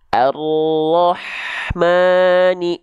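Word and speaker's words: الرحمن: melafalkannya begini ya perhatikan Harusnya kita baca Arrahman yang itu betul ya teman-teman melafalkannya jadi H besar Allah ataupun jadi semi huruf k arahmani itu pun keliru Kenapa bisa keliru kenalan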